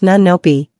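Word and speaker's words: 눈높이: In Korean parenting culture, there is a deeply held principle called, pronounced nunnopi, which literally translates to eye level.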